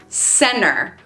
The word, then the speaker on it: center: Center Center no it's not Center so almost like we're spelling it c-e-n-n-e-r Center I'll meet you in the center of town not Center how many miles outside